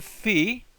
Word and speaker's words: phi: Next we have the phi.